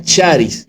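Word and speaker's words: χάρις: aquí en es una un término griego que se pronuncia charis que es que que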